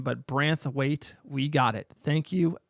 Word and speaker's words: Branthwaite: It's pronounced Branthwaite, not Brainwith.